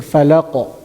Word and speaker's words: الفلق: I'm not saying falaq, I'm saying falaq.